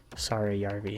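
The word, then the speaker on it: Saarijärvi: And then Siegenthaler and Sarayarvi, I believe is that how you say it? Sarayarvi, yeah.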